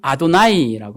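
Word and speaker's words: אֲדֹנָי: 히브리어로는 아도나이라고 하는데요. 아도나이, 나의 하나님. 그래서 이 네 글자가 나오면 아도나이라고 읽는 거예요.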